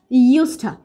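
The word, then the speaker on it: used to: আর এই ইউজ টুর জন্য আমরা যে ইনফর্মাল কন্ট্রাকশনটা পাই সেটা হচ্ছে ইউস্টা। অনেকে কিন্তু এটাকে উস্তা এভাবে উচ্চারণ করে, তাহলে কিন্তু হবে না। ইউস্টা, ইউজড টু, ইউস্টা।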